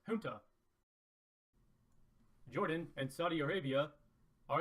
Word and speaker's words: junta: This card is pronounced Junta.